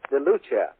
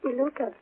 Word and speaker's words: DeLuca: DeLucia. I think that would be. That's the way you pronounce Santa DeLucia. She's from Chicago, I believe. Is that pronounced right? DeLuca. DeLuca. That's right.